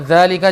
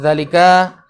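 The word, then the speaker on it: ذلك: Juga dzalika, jangan dzalika. Dzalika itu walaupun tidak ada matnya, mat itu apa yang manjangkan itu, bacanya panjang.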